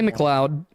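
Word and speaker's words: McLeod: you can't do that it's l EOD Lo in what universe is L EOD pronounced load in what universe is it pronounced loud Scotland well in America that sounds an awful lot like load oh good God what was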